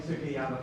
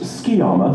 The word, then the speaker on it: Sukiyama: To bring to another interesting character, how did you feel about playing Sukiyama from Tokyo? Oh, yeah! It's pronounced Skiyama, thank you very much.